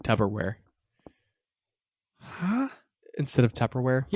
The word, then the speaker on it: Tupperware: Say the first syllable. Tub. Wrong. It's Tupperware with a P, not a B.